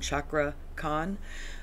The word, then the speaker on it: Cakra Khan: that's how it's pronounced that CA I think is a CH sound chakra con um and he is